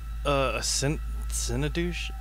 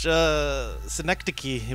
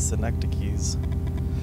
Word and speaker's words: synecdoche: Synodouche? Is a figure. Oh, figure of speech. Synecdoche, whatever. That's how you spell it?